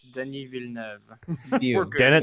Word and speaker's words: Denis Villeneuve: It's Denis Villeneuve. Dennis Villeneuve. I was trying to remember how you pronounced it.